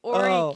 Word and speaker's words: Horry: I pronounced it wrong. It's Horry County.